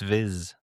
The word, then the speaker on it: Viz: It's Viz. Viz. I mean, I've listened to a little bit of the audiobook and it's Viz.